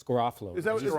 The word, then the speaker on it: Garofalo: Is he saying it wrong, Mike? Is it Garofalo? It's Garofalo.